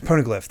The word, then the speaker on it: Poneglyph: I don't even know how it's pronounced. I think Poneglyph. Poneglyph, that's it.